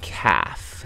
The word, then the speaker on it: calf: cow is called a calf c-a-l-f um you don't pronounce the L nope damn it yep